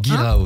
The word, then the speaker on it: Guirao: Si c'est comme ça que ça se prononce, Guirao. Guirao, c'est ça.